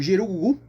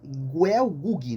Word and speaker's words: Gelgoog: E no Japão, né, ele é conhecido como Gerugugu, né, e no Brasil ficaria um pouco mais fácil de pronunciar como Guel Gug, né?